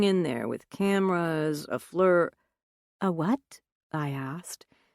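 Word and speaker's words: FLIR: So the next step, we'll be going in there with cameras, a fleur... A what? I asked. He had pronounced it like the fleur in flurry.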